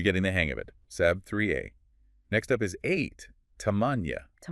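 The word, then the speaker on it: سبعة: Seven is sab 3a. Saab 3a. Okay. So, it's not saba, it's sab 3. Engaging the throat muscle. You're getting the hang of it. Sab 3a.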